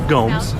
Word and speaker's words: Gomes: Gomez, would you like some case law? Rebar. Yes, sir. Please stop mispronouncing my name. It's Gomes.